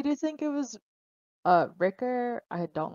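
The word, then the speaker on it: Rikke: that it rhymes with rhymes with pricker right is that what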